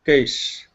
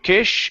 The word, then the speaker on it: case: case best case Okay point the tongue down you're saying Cas your tongue is pointing upwards you're saying K instead of Kish it's cas okay best case there you go that's the S sound okay all right let's